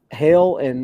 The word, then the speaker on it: Hel: hell and uh or is that how it's pronounced his mother is it hell or yeah okay or in some versions hell uh yeah so hella hell whichever one you want to use and Loki had um